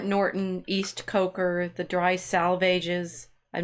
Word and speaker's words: salvages: East Coker the dry salvages I'm not sure how to say that it's supposed to rhyme with the swages down the die salvages